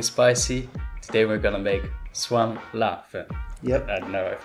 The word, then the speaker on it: 酸辣粉: Today we're gonna make Suan La Fen. Yep. I don't know if I said it right. But no, you said it right, yeah. Okay. Suan La Fen.